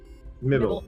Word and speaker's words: Mibble: butchered it again, but to Mibble. Mibble. There we go. Mibble. I'll get it, I promise. I'll get it. Like nibble. Like Nibble. nibble.